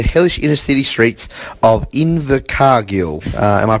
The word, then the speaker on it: Invercargill: Going through these, life's tough when you're living on the streets, particularly the hellish inner city streets of Invercargill. Am I pronouncing that correctly? Yeah, Invercargill.